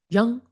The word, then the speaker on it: Young Pueblo: It is young Pueblo. I pronounce him as Jung, but when I looked at the pronunciation, it's apparently Young.